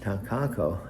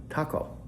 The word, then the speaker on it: Takako: 3 syllables. Try this. I'm coaching her how to say takako. Try this. Ta, T-A, ta, and Alexa goes, ta, okay, got it. And ta, ka, K-A, ta, ka.